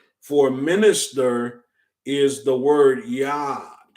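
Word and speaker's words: יד: the hebrew words for minister is the word yad it's spelled it's fail yo dallet okay and for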